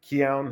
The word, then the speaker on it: Keown: I read this book on Tim Keown, I think I gotta tell you, Keown, that's how you pronounce his last name.